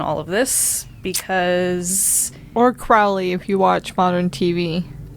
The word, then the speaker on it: Crowley: not to mention Aleister Crowley and all of this because or Crowley if you watch modern TV well I've been told it rhymes with holy yeah I just feel